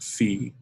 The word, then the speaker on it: phi: uppercase greek letter phi it's actually in greek pronounced fee and it's usually made